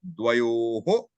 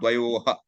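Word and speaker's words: द्वयोः: This visarga is not ha. You have to go along with what preceded it. Dvayoho. Dvayoho. Okay? Not dvayoha. Dvayoho.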